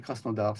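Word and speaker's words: Krasnodar: en Russie ça a cras noodar est-ce que c'est bien est-ce que c'est la bonne prononciation cras noodar oui cras noodar ça veut dire le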